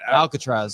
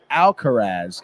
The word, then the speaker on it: Alcaraz: Is it Alcaraz? No. Where's Carlton? I don't know. Wait, how do you say his name again? I always remember. It's not. Alcatraz.